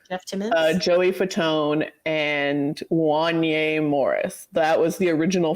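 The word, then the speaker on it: Wanya: Wanye. Yeah, no, I did say yarn. Yeah. Oh, okay. It's like Kanye with a W.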